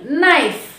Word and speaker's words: knife: We should not pronounce letter K. For example, knife.